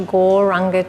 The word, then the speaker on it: gauranga: to add the mantra gauranga to our breath we're going to say it in four syllables gore rah Oh God so as